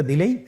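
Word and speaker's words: دال: দালের মাখরাজ হলো জিহ্বার আগা সামনের উপরের 2 দাঁতের আগার সঙ্গে লাগিয়ে উচ্চারিত হয়।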